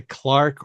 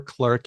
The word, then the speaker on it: clerk: an interesting thing here you might have heard heard people say Clark or clerk you might have heard